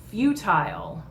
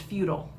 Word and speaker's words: futile: All right, next we've got futile, also sometimes pronounced futile. Either way is okay. People will know what you're talking about.